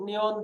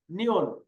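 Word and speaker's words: 니은: আমি আবারও বলতেছি, যেমন গিয়ক, নিয়ন, দিগুত, রিওল, মিয়ম, বিয়প, সিয়ত, ইয়ং, জিয়ত, চিয়ত, খিয়ক, থিয়ত, হিয়ত, ফিয়ক, ফিয়ক, হিয়ত।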